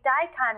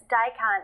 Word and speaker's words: daikon: else they'll serve grated white daikon radish the reason they serve it with the